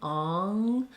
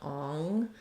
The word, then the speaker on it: on: the opposite problem where people are trying to say on and it'll sound more like Ong or they're lifting too much in the back because the ah vowel